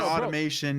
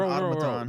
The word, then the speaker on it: automaton: It's not automation. It's not. It's an automaton.